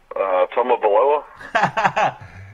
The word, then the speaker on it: Tagovailoa: How do you pronounce that last name? Tagovailoa.